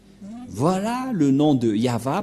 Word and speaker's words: Yahvah: nom de de yava et la prononciation de y h selon les ébreeues c'est yava et personne ne peut